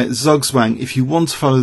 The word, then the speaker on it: Zugzwang: Another German term, you could say it Zugzwang if you want to follow the letters.